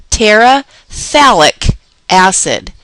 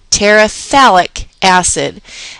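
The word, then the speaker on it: phthalic acid: i c a i talic acid talic acid and what happens here is that this pH is silent talic acid I wanted to make this note this pH is silent so we just simply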